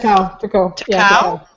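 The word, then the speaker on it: Tecău: Teku. Oh, yes. Teku.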